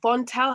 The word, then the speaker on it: Vontelle: just looks fabulous online so von tel have i got it right have i pronounced it yes absolutely great was founded in 2019